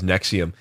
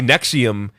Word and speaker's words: NXIVM: But yeah, I think I've heard it pronounced as Nexium.